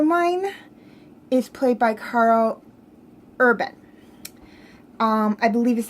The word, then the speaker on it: Urban: her brother arrow mine is played by Karl Urban I believe is how you say his last